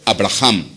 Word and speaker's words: Avraham: promesa con quién con abraham o en este caso avraham que es la traducción la pronunciación más correcta dios hace una promesa